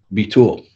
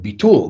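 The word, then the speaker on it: ביטול: you know ashkenazic but be tool that's like the you know you know right the emphasis on the second syllable or on the last syllable so i said yeah be tool yeah you could say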